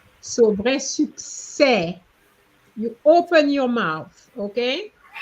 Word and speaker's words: succès: It's not suck. It's suc. So you, okay? You have to move away from the English pronunciation. Okay? Yes, you remember your letter U is U. So you have to say su, not su. Su.